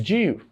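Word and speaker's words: ewe: So this is pronounced as Jew.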